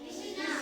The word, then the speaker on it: कृष्णा: पृथ्वी है ना और इसको क्या बोलेंगे हम कृषणा कृष्णा इसको क्या बोला हमने शि इसको क्या